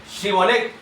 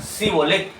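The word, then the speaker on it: Shibboleth: Si él respondía no, entonces les decía, "Ahora pues di sbole shibolet." Y él decía sibolé porque no podía pronunciar correctamente.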